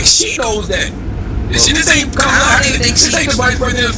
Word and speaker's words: Kamala: She's used to having her name mispronounced. It's Kamala though, guys. Kamala.